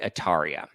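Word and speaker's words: D'Atria: is because his name was originally Jonathan D ataria not Dria yeah that's right because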